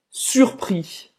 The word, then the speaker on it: surpris: Você não vai pronunciar o S no final, mas para uma mulher tem o som do Z.